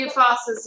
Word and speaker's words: Yousafzai: We're gonna say Yousafzai.